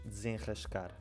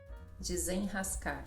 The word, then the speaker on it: desenrascar: E vocês também têm esse R depois de um som nasal, não é? Como é que tu dizes desenrascar? Desenrascar. Ra. Exato. Continua ra. Desenrascar.